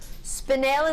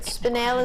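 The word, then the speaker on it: spinel: you ever heard of spanel stunning spanel is the correct way to say it I've heard many different versions of it but spanel is the way to see it in the crown jewels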